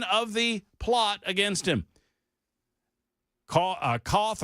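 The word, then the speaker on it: Cauth: Koth or Kuth, I don't know how to pronounce his last name, C-A-U-T-H, Koth, said, "I'm just fortunate that the hitman got a conscience and reached out to me.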